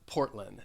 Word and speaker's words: Portland: largest city in oregon has two syllables and the there are a couple things that i wanted to point out you're you're going to have a stop t portland which means that the air is not going to be released and also in that second syllable you may have noticed as you heard me say this that i i'm dropping the d even though the phonetic spelling and the ipa they include the d when when you say